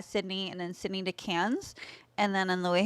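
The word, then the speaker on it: Cairns: cats it's squir though cuz I spell k a i r NS but it's can they're like we're just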